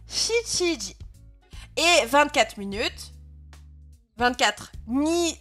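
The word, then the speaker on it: 七時: Et en effet, donc 7h, si on regarde le tableau, ça se prononce Shichiji.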